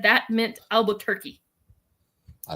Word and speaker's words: Albuquerque: I am in Albuquerque, New Mexico. Yay! But you said it wrong. It's Albuquerque.